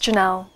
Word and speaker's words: Geenel: were in here yeah it's kind of a quirky spelling but it's pronounced Janelle Janelle so do you